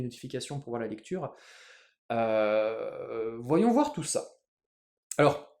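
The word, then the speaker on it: へ: wo qu'on prononcera o la particule he que l'on prononce sera e on verra tout ça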